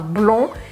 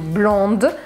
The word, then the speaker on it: blonde: Blonde, que na verdade em francês a gente não fala esse D se for no masculino, então eu falo blond, e se for no feminino, blonde. E em inglês a gente sempre pronuncia o D, blonde.